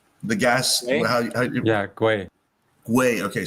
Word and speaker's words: Gwei: How do I pronounce it? Gui. I keep getting it wrong. The gas. Gwei.